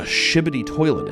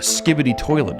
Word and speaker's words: Skibidi toilet: Well, let me tell you what a shibidi toilet is. A skibidi toilet is.